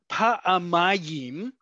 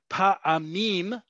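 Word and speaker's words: פעמיים: And you hear how I'm saying it, right? It's pa'amayim, is 2 times. Pa'amim is not.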